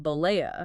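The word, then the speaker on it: Bollea: I've got the famous Bolava v. Gawker case. And remember that's pronounced Blea.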